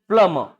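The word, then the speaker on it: plumber: बी भी यहाँ पे साइलेंट है और हल्का आर भी साइलेंट होता है।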